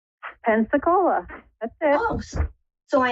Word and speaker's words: Pensacola: How do you pronounce that? Pensacola? Pensacola.